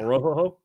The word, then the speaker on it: Orhorhoro: Then Michael Hall from Ohio State, Brandon Dorlus from University of Oregon, and Ruke Orhorhoro. Said that right? Yeah. Orhorhoro?